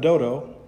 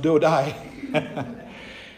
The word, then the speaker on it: Dodo: him was eliezar the son of dodo he doesn't sound too smart it's actually pronounced dodai he was an elite